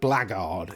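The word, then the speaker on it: Blackguard: concatenation of Black Guard so blackard is the proper pronunciation of these chaps and possibly occasional chapet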